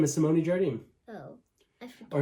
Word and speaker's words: Jardim: Oh, her name is Simone Jardim. Oh, I forgot. Or if you're pronouncing it properly, it's Harjin.